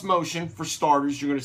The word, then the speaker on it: Mocean: worker I never heard of that well it's pronounced motion for starters you're going to see in the blink there over there over up here it's not M Keen it's motion and he's a producer this are his I